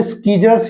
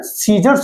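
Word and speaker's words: scissors: जैसे यहां पे देखिए एस सी I double S आर तो ये स्कीजर्स या सीजर्स नहीं होता ये क्या होता है सीजर्स होता है ऐसे ही एम यू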